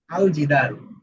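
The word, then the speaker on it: الجدار: যেমন এখানে আমরা দেখছি আল জিদারু। ঠিক আছে। আল জিদারু। এখানে কিন্তু আল। হ্যাঁ। আলিফ এবং লাম দুইটাই উচ্চারণ হচ্ছে।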